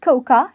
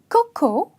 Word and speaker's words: cocoa: It's not coca, it's cocoa.